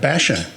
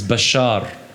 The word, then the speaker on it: Bachar: have you you've had been called Basha yeah well the actual the the correct way of pronouncing it is Bashar good luck Bashar but